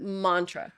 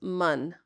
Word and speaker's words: mantra: so you pronounced it Mantra right oh Mantra yeah but the a is short so it's manra Mantra Mantra yeah mantra